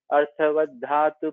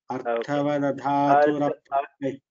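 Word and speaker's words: अर्थवदधातुरप्रत्ययः: Again, अर्थवद् धातुर् अप्रत्ययः full ra you have to pronounce that. अर्थवद् धातुर् अप्रत्ययः Okay. अर्थवद् धातुर् अप्रत्ययः प्रातिपदिकम् अर्थवद् अर्थवत् धातु you cannot say अर्थवदधातु like that अर्थवदधातुर प्रत्ययः प्रातिपदिकम् okay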